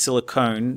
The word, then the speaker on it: silicone: It's a silicon-based polymer, but I like to pronounce it as silicone just to remind us that it's an elastomer and it's different to the metal.